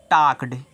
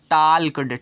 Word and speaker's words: talked: वे TALKED, इसको पढ़ते हैं टाक्ड। एक इसको मत पढ़ना टाल्कड, टाल्कड नहीं पढ़ा, इसको टाक्ड पढ़ा है। तो यहाँ पे यल जो रहता है साइलेंट रहेगा आपका, क्या हो जाएगा, टाक्ड।